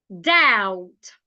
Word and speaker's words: doubt: comfortable comtable stus stus doubt doubt could not Co taste not taste climb not climb so all these words have silent letters you need to be